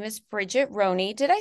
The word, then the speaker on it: Roney: that too and um her name is Bridget Roney did I say your last name right yep